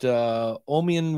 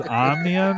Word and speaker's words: Omnium: And you've mispronounced those two businesses. Ah, there we go. You didn't run it by me. It was Omnium and Cadence.